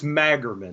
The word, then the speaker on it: Magerman: Ladies and gentlemen, please welcome Magerman. If I'm saying, am I pronouncing your last name right? You know, just don't call me late for dinner, but it's Magerman.